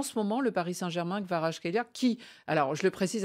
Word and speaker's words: Kvaratskhelia: Eh bien, réécoutons comment lui prononce son propre nom. My name is Khvicha Kvaratskhelia. Khvicha Kvaratskhelia.